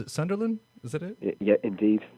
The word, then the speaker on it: Sunderland: But I know this does somewhat lead into your album because where you're from, where you're based, do you pronounce it Sunderland?